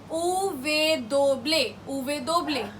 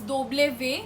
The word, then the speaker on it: uve doble: Uve doble. You'll also hear sometimes doble ve. Both are correct because the pronunciation varies from word to word, and also